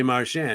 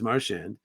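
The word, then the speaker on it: Marchand: want now and he goes I would say marshan and he says and to firm that up I asked my eight-year-old niece a couple months ago her name her last name is marshand how does she want her name pronounced Martian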